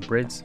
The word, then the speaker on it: Bride: Now, as some of you might be aware, bride seats, like real brides or brids, however you want to pronounce them, are not ADR approved.